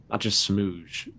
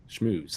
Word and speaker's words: schmooze: Again, you got to be able to connect and make connections, not just smooze. That's a word. Schmooze. That's how you say it.